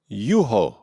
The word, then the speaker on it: Juho: Let's go ahead and get Juho, or however you pronounce it. Wait, hang on. Let's hear it again. Okay, 1 second. Juho Pohjonen, Juho Pohjonen. Juho.